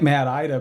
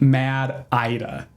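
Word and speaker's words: MADDIDA: Well, like I like I said on the episode, I was calling it Mad Ida because specifically the Northrup brochure says to pronounce it like Mad Ida.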